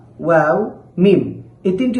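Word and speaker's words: واو: করে থাকি, সেটা হলো ওয়াও, ওয়াও এরকম করে থাকি। আসলে ওয়াও হরফটি খুবই পাতলা, এজন্য এই হরফটিকে ওয়াও পড়া যাবে না, এই হরফটিকে পড়তে হবে ওয়াও, ওয়াও।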